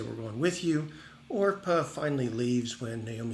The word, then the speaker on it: Orpah: remember it was uh oprah oh i'm sorry it's orpah uh oprah's mom was wrong in calling her arpa but anyway it sounds